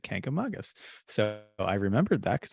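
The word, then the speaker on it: Kancamagus: was a child until my New Hampshire native relatives correct me and said Kank among us so I remembered that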